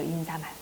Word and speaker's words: 인사말: 4 말이에요 인상 알이에요 인사말 잘못 발음을 알고 있는 경우 사이 소리는 틀리게 되어 발음을 제대로 알고 있어야 돼 인사 말이야 머리 마리아 머리 말이야 이렇게 뭐라고 하는거 보니까 머리 말이에요 머리만 인사말 이게 표준 발음 이기 때문에 살 소리 얻는 게 정상입니다 그렇게 해서 올바른 발음